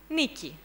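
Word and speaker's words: Νίκη: So, in Greek, you should pronounce Niki. Well, this is an urban myth, everybody knows this. That's why I started. I chose to start my game with this, because people know that behind Nike, it is Niki.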